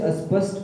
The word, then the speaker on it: स्पष्ट: स्पष्ट कहते हैं। स्पष्ट स्पष्ट माने तो उल्टा हो गया नाष्ट लगा दिया तो उल्टा हो गया हिंदी में क्या लिखा है स्पेलिंग क्या है स्पष्ट आधा स है आधे श और ट अच्छा जो लोग सकाम